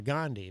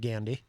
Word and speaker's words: Gandhi: I pronounce it uh Gandhi, but uh Archie Bunker on All in the Family used to pronounce it Gandandy.